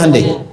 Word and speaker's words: Hyundai: Kita bisa kita dari TK sehingga ketika di sana bikin Honda sini Hande Hyundai kan dibacanya Handai ya kan sana Honda